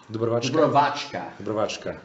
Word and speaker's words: Dubrovačka: Yes, so we have the first bottle, that's Malvasia how do you pronounce that again? Dubrovačka.